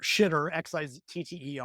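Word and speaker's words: Xitter: Jitter XI tte I pronounce XI like the Chinese she because that's what it is I've done Twitter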